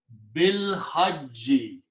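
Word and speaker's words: بالحج: And again, you do not pronounce this thing. So it becomes bil hajji.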